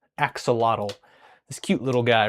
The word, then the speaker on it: axolotl: I am making an axolotl, or as you might know it pronounced, which is incorrect, axolotl.